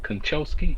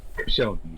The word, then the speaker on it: Koscielny: And in terms of Arsenal, with Konchesky, is it Konchesky? I can never say his name correctly. Koscielny, there you go.